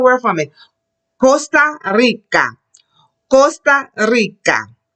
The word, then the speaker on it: Costa Rica: Costa Rica. When the word begins with R, get a roll.